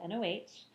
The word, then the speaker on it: Noh: to talk all about no theater remember it's spelled noh um okay so a